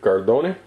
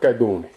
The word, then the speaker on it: Cardone: just gave you of cardoni is uh the way Sicilians pronounce it now when they're trying to sound more Italian but um in reality the old pronunciation the old Sicilians would call it kadun just like that koni